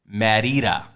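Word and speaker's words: Mérida: this this this economy they pronounce it marita like meh merida like that's that's how i hear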